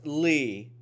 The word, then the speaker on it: Lea: Pronounced Lee. Spelled Leah.